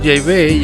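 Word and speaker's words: Yahweh: nombre falso de Jehová lo he cambiado por jaibey ya que esta es la pronunciación correcta en hebreo arcaico del nombre de Dios vamos a comentar estos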